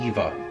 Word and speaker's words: Ayyieva: in the adenium culture pronounce letter a and then eva simple eva they are the ruling